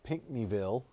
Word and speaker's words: Pinckneyville: And just like this one, I think we've got that little inflow notch near, I can never say this, Pinckneyville. See, I said it right that time.